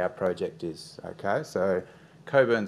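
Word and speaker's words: Cockburn: project is okay so Coburn sound yes the CK is silent um is just south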